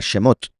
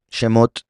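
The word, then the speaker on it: שמות: Entonces, por otro lado, el plural femenino se pronuncia ot al final, como por ejemplo la palabra shhemot. Shemot es nombres, es el nombre del libro de Éxodo que se llama nombres shhemot.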